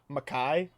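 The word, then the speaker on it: Mekhi: any respect and it's it's spelled m-e-k-h-i makai um and and uh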